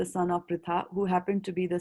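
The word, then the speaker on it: Pṛthā: So if we are pronounced in Krishna, if you are saying R as Ri, then in Pritha also we will say it R as Ri, right?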